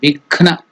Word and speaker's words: Vighna: Then Vighna. Ghna is also Mahaprana. Vighna.